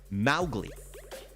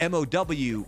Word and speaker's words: Mowgli: But the way that you're supposed to pronounce it, according to Rudyard Kipling, is Mowgli. Mowgli. Okay. Like the M-O-W rhymes with cow, not Mo.